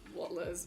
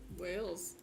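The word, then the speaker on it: Wales: Oh, that's Wall. Wallles. No, it's not. What is it? Um, whales. Wallles.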